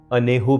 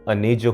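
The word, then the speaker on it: añejo: तुम शायद थोड़ा सा कंफ्यूज हो रहे होगे कि ANEJO तो अनेजो होना चाहिए, मगर मैक्सिकन लैंग्वेज में जे को हा प्रोनाउंस करते हैं, तो इसलिए ये अनेजो नहीं है, ये अनेहो होता है।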